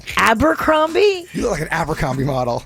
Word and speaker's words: Abercrombie: you like amber come Amber combi no that's not it how do you say it Abercrombie you look at Abercrombie